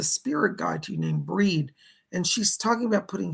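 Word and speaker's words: Bríd: She gives the name of Breed, or Bridget, we might say, but she pronounces with the Irish accent, Breed.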